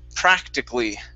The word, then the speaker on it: practically: the word is pronounced practically. Practically. Practically. One more time. Practically. Practically. Practically. Okay, almost. So this A we do not pronounce.